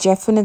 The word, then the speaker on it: Geoff: Elder பிரதரோட பேர் ஜெஃப், GEOFFன்னு கொடுத்துருந்தா கூட இது நீங்கள் ஜெஃப்னு தான் ப்ரொனவுன்ஸ் பண்ணணும்.